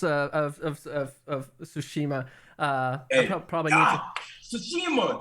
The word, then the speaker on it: Tsushima: Tsushima, that's what it is. Tsushima. Yeah, I'm from New Orleans, so I want to pronounce the T so bad.